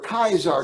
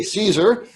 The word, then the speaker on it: Caesar: word that i that i pronounced with its latin pronunciation with the bad chicago accent that we would normally say caesar is a flashing red